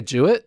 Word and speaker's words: Jewett: Nike ad and just Jewett. So you have, he's training with Benjamin and Norman. See what I did there? Yeah. Okay. It rhymes with do it.